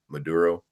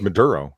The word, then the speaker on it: Maduro: Maduro. Sure. Yeah, I think it's Maduro. Yeah, Maduro.